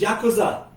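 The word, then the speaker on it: ヤクザ: The pronunciation is Yakuza.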